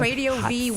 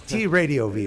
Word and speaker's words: TradioV: Inside Metal Show on TradioV with my guest Nadir D'Priest and the lovely V. It works out Veronica perfect. Freeman. TradioV with the V. Yeah, it's TradioV, I by like the way.